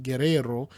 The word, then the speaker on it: Guerrero: Guerrero, Spanish pronunciation, Guerrero, is surname of Spanish origin meaning warrior.